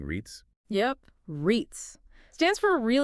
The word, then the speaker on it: REITs: paying stocks I'm not even sure how to pronounce that are we saying REITs yep REITs stands for real estate investment trusts